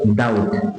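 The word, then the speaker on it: doubt: খেয়াল করে দেখো এখানে বি এবং টি কিন্তু পাশাপাশি আছে, যে কারণে এখানে ডেট উচ্চারণ হচ্ছে ডেট। ডেট মানে কি? রিড। খেয়াল করে দেখো ডাউট ডাউট, ডিওইউ বিটি।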